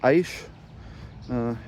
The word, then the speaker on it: Eisch: And then for those wondering on whenever I do post this video how to pronounce the last name that I got, it's Eisch, E-I-S-C-H, and they're the family of Eisches from Germany.